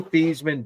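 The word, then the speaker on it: Theismann: He changed his last name for the Heisman campaign to rhyme with Heisman. So, it's Joe Theesman.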